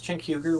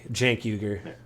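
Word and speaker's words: Cenk Uygur: recently listened to with Chen Huger where Huger called out um I might be getting the pronunciation of the name wrong so anyone J it's Jank Jank yuger yeah um sorry to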